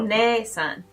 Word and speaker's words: お姉さん: One-san.